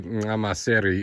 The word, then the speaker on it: Nxamaseri: Today it is mid-80s here at Nxamaseri Lodge, and the a correct way to say Nxamaseri is with that click of the tongue at the front.